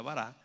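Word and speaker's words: ברא: hebreo que se llama bará, o se pronuncia bará, que la característica de este verbo es que quiere decir crear de la nada.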